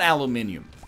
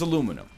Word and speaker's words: aluminium: I don't have a rational reason for this, but it's not aluminium. It's aluminum.